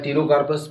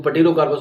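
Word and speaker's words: Pterocarpus: तो ज्यादा बेटर रहेगा और लास्ट हमारा नाम है टिरोकार्पस बच्चे इसको पटेरोकार्पस बोलते हैं लेकिन इसमें पी साइलेंट होता है लेकिन कोई फर्क नहीं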